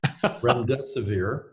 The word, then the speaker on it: Remdesivir: And how do you pronounce it correctly? Remdesivir. Okay, it was pretty close.